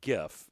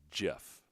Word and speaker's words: GIF: it is yeah okay we were always calling it gif and it was it was the proper pronunciation was jeff i'm pretty sure okay thank you like we've